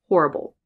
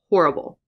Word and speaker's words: horrible: So Chandler says, horrible, horrible, horrible. And I say, horrible, horrible. So he says, har, and I say, whore.